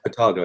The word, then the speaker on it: Otago: Is it Otago? Is that how you pronounce it? Otago, yeah.